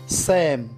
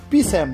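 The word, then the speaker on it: psalm: এস এ এল এম এটার উচ্চারণ কিন্তু হবে স্যাম ঠিক আছে পি স্যাম না এর মানে হলো স্তোত্র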